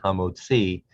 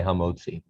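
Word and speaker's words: המוציא: bread haa mode c actually pronounced the last syllable the last syllable gets the accent homo c but american jews tend to say ha mozi line three matsot that's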